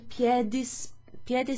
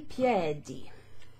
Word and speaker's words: piede: Alzarsi con il piede sbagliato. Il piedi. Oh, scusa, il piede ends with an E, so I need to pronounce that E.